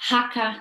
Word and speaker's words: haka: Dlatego tutaj Aotearoa, Iwi, Haka słynna. Tutaj samogłoski są wymawiane dokładnie tak jak w naszym polskim alfabecie.